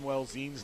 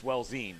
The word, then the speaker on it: Welzine: Hey, I butchered Gavin Welzine's name for 10 years. Right. It's Welzin. No, it's Welzine. Right. Welzine is how you say it. I was going Welzin.